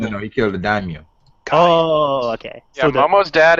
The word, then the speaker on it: daimyo: Daimyo.